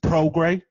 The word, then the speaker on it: Prograis: Did I pronounce it right, bro? You got it, bro. You got it. Usually, a lot of people butcher my name, but you actually got it, brother. So I'm glad you got it right. Yeah, man. I was working. I seen it earlier. I was like, hold on. I think that IS is silent.